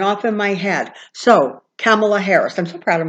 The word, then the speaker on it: Kamala: said Cindy my dear it rhymes with Pamela and this big huge lightbulb went off in my head so Camilla Harris I'm so proud